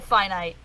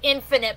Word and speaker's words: Infinite: I'm Finite. I wasn't even around. Okay, it's really Infinite, but I pronounced it wrong on purpose because he doesn't deserve proper recognition because he's weak.